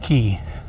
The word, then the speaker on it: Quay: It's spelled Quay, but it's pronounced Quay, which means like a river or wharf area.